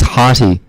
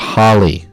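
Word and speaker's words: Harty: I do apologize Deon his name is hary it is not Harley it's not Harley Davidson he's on injured reserve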